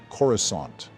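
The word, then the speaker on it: Coruscant: looks absolutely stunning like Naboo and corusant it's pronounced corusant but I guess that's fair the CGI for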